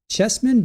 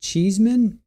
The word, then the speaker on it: Chesman: I think it's Chesman, but he pronounces it Cheeseman.